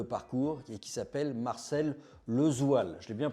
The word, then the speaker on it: Lesoille: un drôle de parcours et qui s'appelle Marcel Lezoil. Je l'ai bien prononcé.